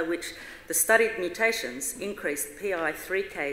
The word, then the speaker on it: PI3K: Daniel Adrian William Andrew Irvin pi3k is an acronym each letter pronounced separately and it signals the protein whose mouth mouth malfunction often leads to cat cancer mr.